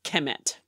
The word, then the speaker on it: Kemet: into the problem that we do not know how to pronounce Egyptian because we don't have any vowels, but KMT. Right. So it's usually supplemented to as Kemet. Right. Kemet. The vowels are disputed and whatever, but Kemet, whatever, however